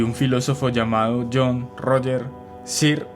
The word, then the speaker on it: Searle: filósofo llamado John Roger cir creo que de esa forma se pronuncia searles se escribe me imagino que se pronuncia así o ser igual yo le voy a